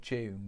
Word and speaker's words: DVNE: Have you seen that band called June? But it's spelled like DVNE.